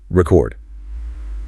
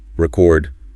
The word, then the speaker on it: record: Record. Longer, louder, higher. Record. Shorter, lower than the punch.